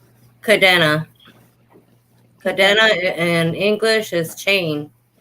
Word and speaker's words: Cadena: Cadena. Cadena in English is chain. It's a English name. All right. No, it's a Spanish name. Okay, Cadena. Did I pronounce it right? Cadena. Yes, ma'am. Cadena.